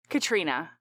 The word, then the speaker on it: Catriona: she recognize her, it turns out this is Catriona, and Catriona is it pronounced Catriona? Is it Katrina? Katrina.